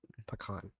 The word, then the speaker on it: pecan: pecan i don't know pecan pecan apparently pecan is the correct uh pronunciation that's closer to the actual native american word pecan pecan a pecan